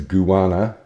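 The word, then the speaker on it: Kuwarna: All I know is that the Adelaide one is it's you don't pronounce it with a K. The KU is a gu. So it's guana. And the TJ is a ch sound.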